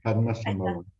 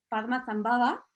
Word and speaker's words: Padmasambhava: En el 98 editó Las enseñanzas de Padma, bueno, me lo vas a decir tú, ¿cómo se pronuncia esto? Ahí está, Padmasambhava. Padmasambhava, y el budismo tibetano en el 98, y